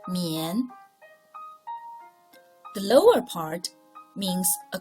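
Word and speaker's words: 宀: Its pronunciation, mian.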